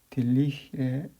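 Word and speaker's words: Dirichlet: 이와 같이 어떤 면의 온도를 주는 방식을 딜리힐의 컨디션이라고 합니다. 딜리힐의 이게 마지막 t는 묵음이 됩니다.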